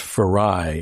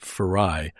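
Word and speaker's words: Farayi: Yeah, her name's actually pronounced Farai. It's spelled f a r a y i, but it's pronounced Farai Malleck.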